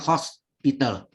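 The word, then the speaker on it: L'Hôpital: Pakai topi ya, hostnya. Host, bacanya hospital. Nggak pakai S. Kalau S, hospital itu rumah sakit nanti.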